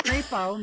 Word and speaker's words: Crapo: Like it's spelled Crapo. Oh, it's only one P. So it's not like could be misconstrued as like Crapo or like Crapo? Yeah. Crapo, maybe? No, it's probably Crapo. It's got to be Crapo of Idaho.